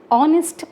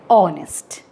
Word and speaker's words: honest: An honest man. We are not telling honest. We are saying honest. Okay, the sound of H is silent here.